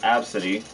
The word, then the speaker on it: Abcde: Hey, I saw a girl named ABCDE and it's pronounced Absidy.